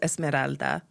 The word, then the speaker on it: Esmeralda: I mean, if you're going to say the names, at least learn how to say them correctly. It's Esmeralda.